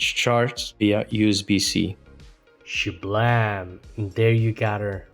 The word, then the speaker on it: Cejour: her the Vmax and I pronounce it with a French name because I'm partially French but mostly because sh in French means this day this moment which is a freaking